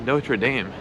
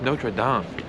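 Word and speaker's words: Notre-Dame: you guys understand something really quick it's not notre dame it's actually pronounced notre dame and i feel like a notre dumb ass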